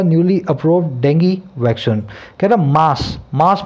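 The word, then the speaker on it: dengue: हुए एक नए अप्रूव डेंगी वैक्सीन को। देखिए डेंगू आप बोलते हैं, डेंगू बोलते हैं, इसका सही प्रोनाउंसिएशन क्या है, डेंगी, डेंगी बता रहा हूँ मैं आपको, देखना किसी डिक्शनरी में।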